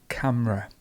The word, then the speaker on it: camera: one um lots of people say camera camera it's literally just camera we have almost a silent e in the middle camera so um i